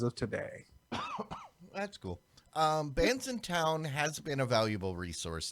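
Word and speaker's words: Bandsintown: it says it sure looks like you should pronounce it some other way but it is bands in town yeah a branson downtown plus is being is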